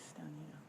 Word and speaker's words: Stonado: It is Stonado.